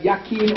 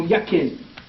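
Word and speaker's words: Jachin: The English J is silent and it's Y. So you got Yakim or Yakin.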